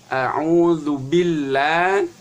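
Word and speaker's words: أعوذ بالله: Kemudian yang berikutnya, a'udzu billah, ya. Antara ba dengan lam itu harus langsung masuk.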